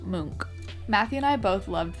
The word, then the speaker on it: Munch: And speaking of fact checking, this is not pronounced Munch, it is pronounced Munk.